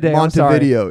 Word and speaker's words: Montevideo: Montevideo, yeah. Like a video, you know. Video of Monty.